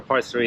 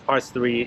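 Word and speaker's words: Parts 3: us for parts three people always say yeah just go to part three you know part three but it's parts three and then there's the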